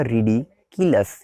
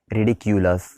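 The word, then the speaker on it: ridiculous: रिडिकुलस pronunciation याद रखिएगा, रिडिकुलस नॉट रिडिक्यूलस, okay.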